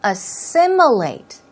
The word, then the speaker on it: assimilate: Stress goes right there on the second syllable, so it's assimilate. Assimilate.